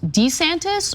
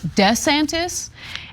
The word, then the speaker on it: DeSantis: So the problem lies in whether DeSantis is pronounced Dee-Santis or Deh-Santis.